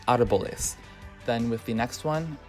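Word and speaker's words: árboles: Well, just pay attention to where the accent is. I would say more often than not, I'll hear people say arboles instead of arboles.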